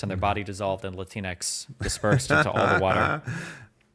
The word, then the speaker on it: Latinx: never use the word latinx never latinx latinx yeah like Kleenex something it's cringe do you think it's pronounced like Kleenex or or Latin X I think it's Latin X Kleenex latinx okay yeah